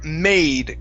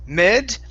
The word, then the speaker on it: made: go to the word made give me a long a here instead of med it's made very good uh next